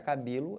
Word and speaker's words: cabelo: sílaba tônica perceberam então a sílaba tônica da palavra cabelo é o b legal serve para qualquer